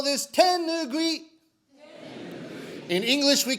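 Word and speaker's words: tenugui: i know you in japanese we call this tenugue in english we call this a hand towel excellent pronunciation when we perform rakugo we wear special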